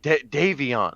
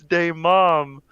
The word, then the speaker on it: Davion: kid just went no that's not my name it's pronounced davion and and the kid was like no haha it's day mom and the teacher the